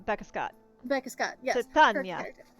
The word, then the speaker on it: Titania: Titania. Titania, yes. Tatiana. Nope, almost.